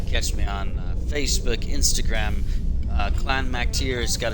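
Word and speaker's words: Clann Mac Tire: So it's Clan Mac tier, and that's Gaelic or Irish kind of thing. It's tier, not tire, even though it's spelled tire.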